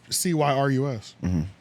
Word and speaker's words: Cyrus: I thought it was Cyrus. And the thing in your thing it says Cyrus, right? It's Cyrus. Oh well, they have them paired up. Is that how you spell it?